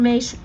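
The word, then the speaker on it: Myss: And you said Carolyn Mace?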